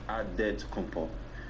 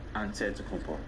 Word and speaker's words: Antetokounmpo: In the Greek way, you gotta say it with a D, so it's Antetokounmpo. But in the Greek way, you say with the NT, like Antetokounmpo.